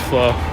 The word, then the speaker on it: Flo: It's not flu, it's Flo.